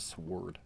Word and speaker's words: Sword: Don't pronounce the W. All right, Memories of the Sword.